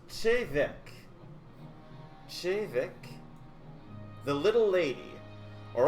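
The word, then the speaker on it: Te Bheag: Pronounced Chevek.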